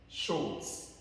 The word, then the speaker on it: short: Prononcez comme ça. Short. Le R là, ne prononcez pas.